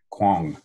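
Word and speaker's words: Kuang: Can you pronounce the witness's last name once more? Kwong. Kwong with an M? K-U-A-N-G. Kwong.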